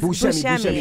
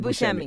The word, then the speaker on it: Buscemi: Buscemi. It's not that hard. Like the actor. Okay, Steve Buscemi.